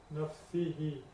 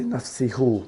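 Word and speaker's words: نفسِهِ: Because when you say, you can't say nafsihu, it's just from an articulation point of view.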